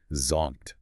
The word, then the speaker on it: zonked: The pronunciation here is fun. But it can be tricky with that strong Z sound. Z zonked. Say it with a big sigh of exhaustion.